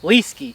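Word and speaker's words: Leeske: the spelling so you guys could some somewhat pronounced his proper english name is l-e-e-s-k-e yeah so it's just liskey that's how we decided yep so that's his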